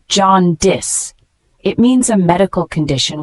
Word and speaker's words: jaundice: it is a noun pronounced as John dis it means a medical